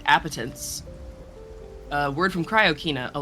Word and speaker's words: appetence: Yeah, it looks like you're pronouncing it right. Appetance.